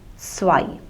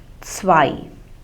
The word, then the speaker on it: zwei: Now the German consonant Z is pronounced like TS. Okay, like we pronounce it in English word like mats or bats. So if you hear the word s, so that is the pronunciation.